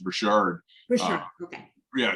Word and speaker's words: Richard: And my last name is actually pronounced Richard. For Uh, sure. Okay. yeah, just like the Rocket Richard, the hockey All player.